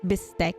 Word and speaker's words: bistek: You know what bistek is? bistek. Bistek. Is It's how Filipinos pronounce beef steak.